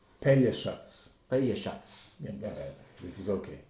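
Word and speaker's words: Pelješac: to realize that the the pronunciation should be pena shots shots yes this is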